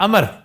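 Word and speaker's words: عمرو: ये उमरू नहीं है, अमर। सर ये अमर और उमरू ये क्या चक्कर ये है? अरब नेम है ना, उमरू। एन मीम रे वाओ, जी। इसमें वाओ साइलेंट है, अमर है।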